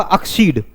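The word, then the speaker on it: accede: इसको हम ज्यादा बच्चे लोग क्या पढ़ते हैं, एक्सीड पढ़ते हैं। क्या पढ़ते हैं, लेकिन इसका जो प्रोनाउंसिएशन होता है वो क्या होता है, अक्सीड।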